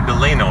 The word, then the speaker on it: Delano: It's Delano. Delano. You're putting the emphasis on the wrong syllable.